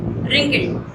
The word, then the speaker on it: wrinkled: इसको रिंकल्ड नहीं पढ़ेंगे बेटा, ठीक है? रिंकल्ड नहीं प्रोनाउंस करेंगे, इसे क्या पढ़ेंगे हम? रिंकल्ड। W is silent here, W silent है यहाँ पर।